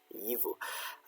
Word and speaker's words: gyfu: So we know this one should be a G. Yivu.